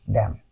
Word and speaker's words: damn: In these words, what we say, this word is pronounced as a solemn, or this word is pronounced as damn.